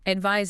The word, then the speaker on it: advise: Advise is the action, the verb. Say something. And there's a pronunciation clue, too.